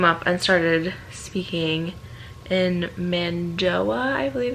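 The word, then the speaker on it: Mando'a: And so he came up and started speaking in Mandoa, I believe it's how it's pronounced.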